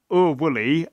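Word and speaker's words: Oor Wullie: in the Sunday post you have o wooly um which is how you would pronounce our willly I think um if you were Scottish so it's written in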